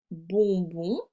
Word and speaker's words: bonbons: Dans la caisse, il y a des bonbons, le S est muet, et du chocolat, le T est muet.